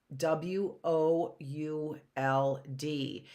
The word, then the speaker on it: would: that's another sight word w o u l d it rhymes with should and should is spelled